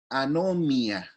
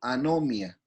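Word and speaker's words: ἀνομία: Pero esta palabra, en el Nuevo Testamento, la palabra pecado o infracción viene del griego anomia, como lo estoy pronunciando, anomia, ¿ya?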